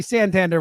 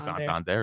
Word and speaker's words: Santander: It's got like a ring to it. It rhymes. Santander. No. Yeah, Anthony. Santander. Bang. It sounds like salamander.